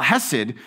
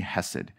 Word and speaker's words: Hesed: That word Hesed, and sometimes you'll see it spelled with an H. Sometimes you see it spelled with a ch, the ch, right? Because most Hebrew words have that ch. So if you just start choking, you're probably speaking Hebrew.